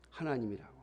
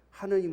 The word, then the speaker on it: 하나님: 아래 라고 되어 있습니다 그러므로 정확히 발음 하려면 하나님이 맞습니다 그런데 세상 사람들이 기독교가 하나님이 이런 게 싫으니까 하느님 으로 바꿔 놓은 거예요 또 1 여러분 많이